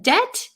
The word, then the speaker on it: debt: I'm so tired yes in debt the B is silent thank you I I